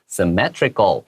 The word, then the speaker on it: symmetrical: 好，我们来看一下这一段的第一句话哦。The building's layout 这个字的意思呢，肯定是指一个房子的布局啊，或者是一个房子那种平面图，什么东西的配置都可以用 layout 这个字。如果说今天谈到的是这种文字文章的话，你可以说是排版。好，这种东西的话都可以这样子用。The building's layout is based on the Greek cross，它指的就是那种希腊的这种十字，来这样当做是建筑的这种概念基础。A symmetrical shape 啊，你看到这个字，我们前面不是有提到那个字 symmetry，对不对？这边的话形容词出现咯 symmetrical 啊，重音要不要往后一点？symmetrical 要小心。A symmetrical shape with arms of equal length 是对称的等长的这种十字形，which can be clearly seen from above。从空中去看的话，你可以清楚的看到它的轮廓。